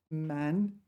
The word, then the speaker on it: 漫: This is one of these cases where this is pronounced man.